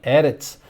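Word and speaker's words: אֶרֶץ: Já viu também o exemplo ali de Eretz, o duplo segol, dois Es abertos, né, que significa terra.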